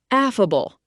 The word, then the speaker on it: affable: affable Pronounced af-fa-ble. It's an adjective.